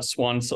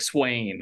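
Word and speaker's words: Siuan: Maureen and uh swans I I always say her name wrong because I read these books when I was a kid and I he won yeah thank you yes Swan I always call it like Swain I'm like that's not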